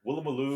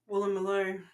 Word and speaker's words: Woolloomooloo: eastern suburbs, Vaucluse, Waverley, Woolloomooloo. Vaucluse. Okay, all my American friends. Woolloomooloo. How you like that Aussie word? Woolloomooloo. Woolloomooloo. It sounds exactly as it's spelled, but it's Woolloomooloo and Darlinghurst, and in